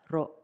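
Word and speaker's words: ロ: Katakana ro, pronounced as ro, ro, ro.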